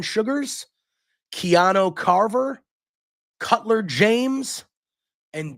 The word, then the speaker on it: Shugars: Saquon Sugars, spelled Shugars, Sugars.